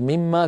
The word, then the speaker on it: مما: أينما فتحت القرآن الكريم تجد مما كتبت على نية الإدغام كلمة واحدة، أصلها من ما، كلمتان بنون مظهرة، من يعني مظهرة في الخط قصدي، لكن في النطق لا بد من الإدغام.